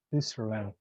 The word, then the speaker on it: Switzerland: Switzerland. Switzerland. Ajá, algo así sería. Les voy a poner aquí. Sweet, Switzerland, Switzerland. Switzerland, Switzerland, Switzerland. Switzerland. Ajá. Hay que, acuérdense de pronunciar esa T.